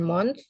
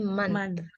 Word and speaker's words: month: Jadi, oh itu kan bacanya agak A ya. Bukan month, tapi month. Month. I lost my book last month. Last month, ada TH-nya ya.